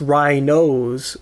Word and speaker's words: Rhinozz: rhinos I keep wanting I keep wanting to say rhinos because that's how I've been saying it to myself knowing how it's spelled like the word schnoz meaning nose and then but I have to remember it's rhinos as you know because you